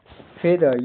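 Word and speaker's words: feather: Bread means रोटी bread भोजन सामान्य अर्थ में फेदर एफ ई ए टी एच टी आर का उच्चारण प्रोनाउंसिएशन फेदर इ का उच्चारण ए छोटी ए की तरह होता है। टियर की ध्वनि हल्की द जैसी होती है। जीव धातु के बीच हल्की लगती है। आखिर इ आर अर होता है।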